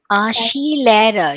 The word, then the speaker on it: Skilehrer: Vielleicht er ist ein Skilehrer oder Skilehrer. She. SKI is how we say it is like she. That's how we pronounce it.